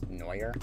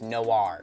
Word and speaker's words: Noir: called trap no no noer noar I don't know actually how to fully well pronounce noer noar Noir Noir it's Noir that's right Noir trap Noir